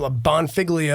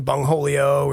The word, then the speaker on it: Bonfiglio: So Bonfiglio turned into Bongholio and all sorts of other, mispronunciations that I couldn't really fix.